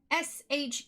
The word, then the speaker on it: sherbet: at it it's spelt s-h-e-r-b-e-t there's no extra r you're robert joanna says sure